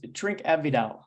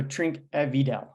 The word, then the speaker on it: Trinquevedel: or there in Los Angeles how do we pronounce the name of our tevel producer today it's drink avidal so trink evidel and we're tasting the 2021 which uh as